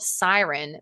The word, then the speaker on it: Syrn: So, it's called Siren, but it's spelled S Y R N.